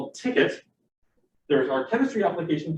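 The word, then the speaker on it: tket: development kit which in our case is called ticket if you're curious about the name our first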